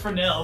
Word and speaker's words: Fresnel: Okay, it's pronounced Fresnel, but I can't remember the proper spelling at this juncture.